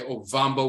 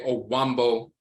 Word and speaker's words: Ovambo: Some people say Ovambo with the V. Some people say Owambo with a W.